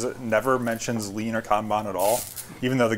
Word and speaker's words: kanban: as I can tell, the best way to pronounce it in Japanese, like the video you posted. I took Japanese for a year, and I'm pretty sure it's Kanban. So Kanban is like literally, it means signal card, okay?